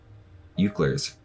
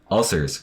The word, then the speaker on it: ulcers: Ulcers? Euclers? Ucklers? Ulcers. It's ulcers. Right?